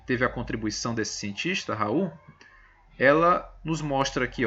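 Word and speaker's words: Raoult: a lei de Raul embora escrita seja essa tá nome desse cientista que contribuiu muito para as propriedades coligativas a sua pronúncia é Raul então a lei de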